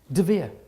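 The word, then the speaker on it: דביר: De Vere. Wow. The word for the Holy of Holies in Solomon's temple in Hebrew is pronounced De Vere.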